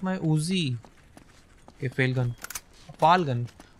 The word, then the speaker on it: FAL: Fal gun. How do you say it? Fal? I will call it Fal gun.